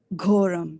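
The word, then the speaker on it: घोरम्: Ghoram. Ghoram. Yeah, there's a H here, like in ghoda. Ghoda. It is not go as in goat. It is gho, right? Ghoram.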